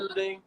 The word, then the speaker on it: Lede: I say Lede, but you know, other people say some other stuff. I'ma just stick to what she told me. You know. Yes. So Kiana Lede, you were the male